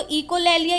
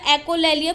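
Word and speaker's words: echolalia: तो अब आपको पता, कई बार पूछ लिया जाता है कि इसको इकोलैलिया या एकोलैलिया कुछ भी बोल सकते हो आप, it depends on your pronunciation.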